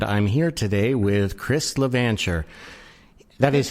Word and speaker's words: LaVancher: aaron tornberg and i'm here today with chris levantcher that is how you pronounce it correct it is yeah you got